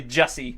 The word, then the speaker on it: Jussi: just thank god yeah juicy so bad you have no idea it's uh it's actually Jessie so I'll take you